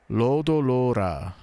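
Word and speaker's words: ロードローラー: And if they make it long vowel, Lodo, the accent is on the second, the elongated vowel, Lodo. Lodo Lora. And that would also be a long vowel because that's how they usually do it in Japanese. Lodo Lora.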